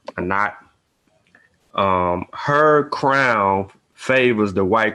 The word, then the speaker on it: Anat: Uh, the Annette. Well, I'm saying it wrong anyway, but Oh, Annette, Annette. Anat, yeah, Anat.